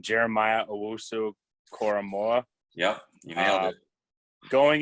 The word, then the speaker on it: Jeremiah Owusu-Koramoah: I never pronounce his name. Jeremiah Owusu-Koramoah.